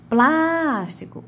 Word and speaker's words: plástico: Então, plástico, o plástico. Então, eu digo que plás é a minha antepenúltima sílaba, né? E é a que tem a maior tonicidade.